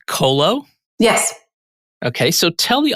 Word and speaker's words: Qolo: sure i pronounce it correctly it's colo yes okay so tell